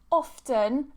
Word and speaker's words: often: Someone has asked about the word often. I actually have a YouTube video talking just about how to pronounce the word often. You'll see that I pronounce it with a T.